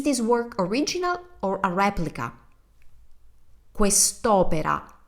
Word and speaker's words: replica: Is this work original or a replica? Quest'opera è un originale o una replica? Notice how we use exactly the same word for replica, but we pronounce it differently, slightly differently.